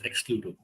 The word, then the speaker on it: Excluto: go ahead and start this conversation am I pronouncing it right is this exclud yes exclud okay exclusive tomorrow oh wow I didn't know